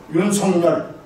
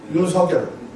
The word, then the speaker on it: 윤석열: 지금 아까 저 우리 회장님 발음 정확히 잘하셨어요. 윤석열. 근데 방송인들은 뭐라고 그러는 줄 아세요? 윤석열. 윤석열을 발음하고 있어요.